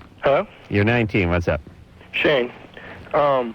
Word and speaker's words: Shane: Shay? Hello? You're 19. What's up? Shane. Right, I said Shay. Yeah, I'm sorry, it's Shane.